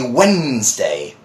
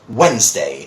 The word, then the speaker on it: Wednesday: sometimes you know finding hard and difficult to pronounce as one it's actually Wednesday just Wednesday obviously also you know the day's can also